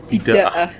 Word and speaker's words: Bidaah: Itu bacanya bidah apa? Bidah. Bidaah.